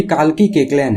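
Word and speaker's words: Kalki Koechlin: ये काल्की केकलेन है। मैंने कुछ गलत नहीं प्रोनाउंस किया है, इनका नाम इसी तरह प्रोनाउंस होता है, पर ये इंडियन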